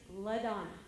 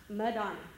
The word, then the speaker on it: LaDonna: My first name is LaDonna. okay? It is not Madonna.